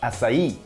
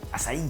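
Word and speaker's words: açaí: simple asai bow asai comes from Brazil it's pronounced asai asai asai uh it's a superfood really high in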